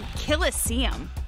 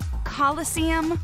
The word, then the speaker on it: coliseum: even say it right there's no such thing as a killestium you know what he's trying to do it's pronounced coliseum which is an amphitheater made in ancient rome i thought he was